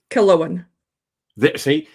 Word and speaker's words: Killowen: a little bit sure about the Distillery proper pronunciation Kellan see and she'll say that a few dozen more